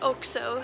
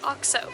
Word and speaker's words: OXO: And then we taught ourselves after so long to say it oxo, and then we heard a commercial by the company itself, where in fact they were not pronouncing it oxo, they were pronouncing it oxo, exactly like we did in the first place.